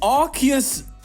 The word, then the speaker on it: Arceus: Oh, we're playing Arceus Union.